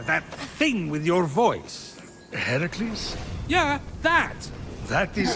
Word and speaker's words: Heracles: Heracles? Yeah, that. That is how it's supposed to be pronounced.